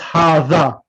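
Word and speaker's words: هذا: The tongue has to be underneath the front 2 teeth. That's the way to pronounce mahadha. It's not hazihi, it's hadha.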